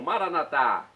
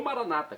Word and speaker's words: Maranatá: E agora do aramaico eu clamo: Maranatá, como dizemos nós católicos, ou Maranata, como dizem nossos irmãos separados, os evangélicos ou protestantes. Não importa a pronúncia, o significado é o mesmo.